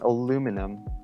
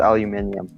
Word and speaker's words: aluminium: Well, my comment on aluminum is if I'm referring to like an aluminum can, it'll be aluminum. But if I'm in science and I'm referring to the actual element, it's aluminium.